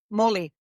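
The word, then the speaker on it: mōlī: And you and your ancestors have a lot to do with your connection to is it pronounced Moli or Moly? Moly. Moly.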